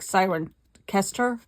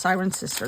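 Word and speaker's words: Cirencester: s t e r which to me it looks like siren ker but they it was pronounced siren sister they pronounced it course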